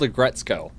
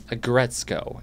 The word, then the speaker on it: Aggretsuko: It's called Agretzko. It's spelled okay. You can't see that. Excuse me. Yeah. So AGGRETSUKO. Agretzko.